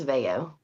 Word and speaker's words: Veo: pronounce it for us my last name is Veo Veo okay I apologize I